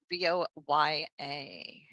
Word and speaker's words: Voya: V O Y A. V O Y A. Uhhuh. Voya. Oh, finally. You pronounced it correctly.